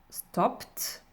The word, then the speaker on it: stopped: Ici, dans ma terminaison ED, va avoir le son T. Donc ça donne walked, stopped, watched.